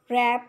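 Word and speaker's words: wrap: Some words have initial consonants which are not pronounced, मतलब consonants letter होते हैं लेकिन हम उन्हें प्रोनाउंस नहीं करते, जैसे ऑनेस्ट के अंदर एच को, रैप के अंदर डब्ल्यू को, नॉक के अंदर के को।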